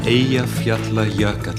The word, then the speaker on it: Eyjafjallajökull: So, Daniel, the question everyone wants to ask you is, how do you pronounce the name of that Icelandic volcano? Eyjafjallajökull.